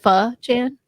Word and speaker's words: Pho Chan: thought wait yeah i think so you said pha chan okay yes good okay that's totally not what